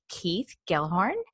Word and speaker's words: Keith Gelhorn: with the Canadian coach group and this is Keith Gellhorn and did I pronounce that right Keith you totally did okay